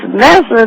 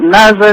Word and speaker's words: NASA: you know these people it's NASA it's not Naza and to read they're